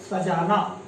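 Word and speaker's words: सज़ा: सजा का अर्थ है सजाना। जैसे वाक्य में प्रयोग करें, इस कमरे को सजा दीजिए। ठीक है, किंतु नुक्ता वाला वर्ड देखिए, इसका उच्चारण क्या होगा? सजा, और इस सजा का अर्थ होगा दंड।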